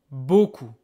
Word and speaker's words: beaucoup: Mercy B Mercy B don't be fooled by the final P you don't hear it this one a u